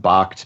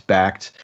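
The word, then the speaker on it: Bakkt: as backed change yeah some people pronounce it box backed however you want to know tomato tomahto right supposed to happen January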